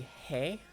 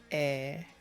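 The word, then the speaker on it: へ: As for this character, it's showing you that it's supposed to be hey, but Hey. it's pronounced like a. Eh. So it's not actually hey, Eh. it's actually just eh. Like if you were to say eh, eh.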